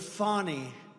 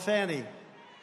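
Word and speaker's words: Fani: of how to pronounce Kam's name where he mispronounces it because of fonnie f a n i fny you have to pronounce it fonnie it's called Fanny you have to pronounce f i don't know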